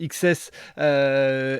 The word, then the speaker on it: XCSS: explique-nous ce qu'est ce projet xcss qui se prononce XS explique-nous un petit peu